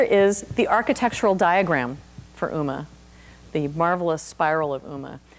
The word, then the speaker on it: UMA: Uma in a nutshell we do pronounce it Uma like the actress or like the goddess um it's a draft